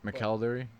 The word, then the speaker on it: McElderry: front of myself Pat Mackel Derry how you pronounce the last name or Zima Calgary I usually say the second way McElderry yeah okay and then